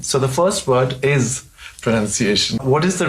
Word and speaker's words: pronunciation: of saying this word pronunciation is correct and not pronounceable not pronunciation yeah pronunciation um and it's actually linked to enunciation right which is to speak clearly and um it's not linked to pronoun which is where the confusion comes from yes and what about